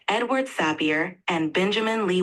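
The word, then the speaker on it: Sapir: this uh this to name the names are pronounced Edward sappier and Benjamin Lee WF you're doing great with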